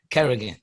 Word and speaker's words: Kerrigan: Kerrigan.